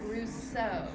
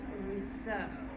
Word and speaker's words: Rousseau: the G the J's or so Jean Jacques Rousseau this is an Eau says o Jean Jacques Russo so he wrote romantic novels which is kind